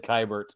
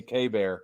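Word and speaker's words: Keibert: oh that last week I said kybert and we know Brad corrected me K bear and I was like what that's how it's spelled okay so Denise are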